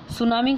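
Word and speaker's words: tsunami: सुनामी का नाम आप बच्चों ने सुना होगा, यहाँ पे टी जो है साइलेंट है, सुनामी।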